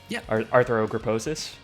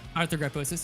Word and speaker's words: arthrogryposis: actually have a disability, arthrogryposis, if you yeah, arthrogryposis, yeah. You pretty much got it right. Most people don't get it right on their first pronunciation.